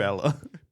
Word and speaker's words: Allar: damn it drew Drew Allah some freak right it's not Allah it's Allah it's Allah it's a Drew Ella Drew Allah right